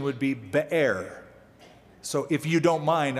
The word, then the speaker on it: Beer: So if you don't mind, I'm going to give it the proper pronunciation. Otherwise, you'll get in your mind that they went to like the place where Budweiser's are made or something.